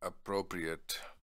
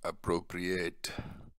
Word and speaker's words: appropriate: Aur ye hai appropriate. Appropriate. Aur agar hum ye adjective hai agar hum uski pronunciation karte verb ki to wo ho jati hai appropriate.